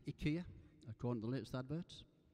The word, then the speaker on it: IKEA: It should be pronounced IKEA, according to the latest adverts.